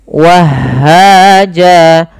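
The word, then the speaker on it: وَهَّاجًا: Kemudian lafal jan, awalnya dia berharakat fathatain, bunyikan jan ketika dia apa namanya di tengah-tengah bacaan. Akan tetapi ketika di akhir bacaan dan waqaf, apabila ada fathatain bertemu alif di akhir bacaan, maka dia diiwadkan, diganti menjadi panjang sebagaimana mad tabi'i. Jadi bentuknya seperti ini. Wahaja. Nah, inilah yang kita namakan dengan mad iwad.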